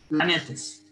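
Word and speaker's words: πλανήτης: de griego saben que la fonética de esa palabra que significa errantes es la siguiente planetes efectivamente planetas significa estrellas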